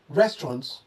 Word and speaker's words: restaurant: Overemphasis on each syllable is a common mistake while pronouncing this word, especially among learners. So try pronouncing this as restaurants or simply restaurant.